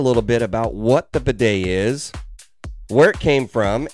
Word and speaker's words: bidet: to be talking about the bidet now that is spelled b as in boy i d e t bidet and it's a French word and it is